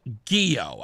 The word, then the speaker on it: Ghio: I haven't had the chance to meet her yet or to talk to her, but I think it's Ghio, g h i o.